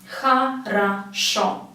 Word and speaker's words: хорошо: You just need to know where the stress is, and then if O has no stress on it, it will be pronounced as A. If it has a stress on it, it will be for sure pronounced as O.